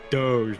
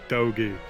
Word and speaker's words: Doge: I'm saying Doge. It's a Doge, not Dogi.